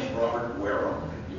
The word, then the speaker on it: Wareham: to join us here my name is Robert waram you pronounce it you put on your pants and